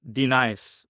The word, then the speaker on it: Denis: So my name is spelled with 1N. And if you think about it, it's just Denis.